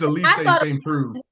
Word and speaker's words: Elise St. Preux: It's Elise St. Preux. I thought it was Elise and not Elise.